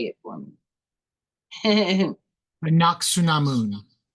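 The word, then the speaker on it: Anck-su-namun: Anaksunamun. Not Samun. Anak. Su. Namun. Namun. Okay, you guys, you've been educated.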